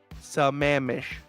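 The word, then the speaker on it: Sammamish: Now, Chiba, is that a hard A sound? Is it sa mom-ish or sa mame-ish? Is it a long A or short A? That's momish. Sky.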